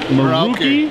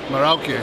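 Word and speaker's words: Merauke: Is it Maruki? Marauke. Marauke. Marauke. All right, yeah. So we were wrong.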